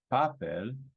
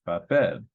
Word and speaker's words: papel: syllable right about bed it's not papel it's puppet so again it follows the rule and ends the stress is on the last syllable so really we're looking